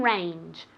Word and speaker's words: range: Mountain range. Mountain range. Remember that j at the end, okay? Mountain range. J, j, with moving your vocal cords.